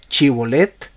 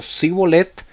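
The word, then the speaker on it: shibboleth: Y la prueba consistía en que lo ponían a pronunciar una palabra. Les decían: ¿puedes tú decir Chibolet? Y si la persona respondía diciendo Sibolet, significaba que lo había pronunciado mal y que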